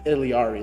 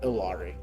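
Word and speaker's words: Illari: It's Iliari, not Ilari.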